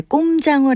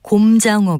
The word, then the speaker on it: 곰장어: 것을 비유적으로 이르는 말입니다 그리고 먹장어 를 일상적으로 이를 때 꼼장어 라고 하는데요 이것도 곰장어 가 정확한 표현입니다 또 풍자 권을 아나고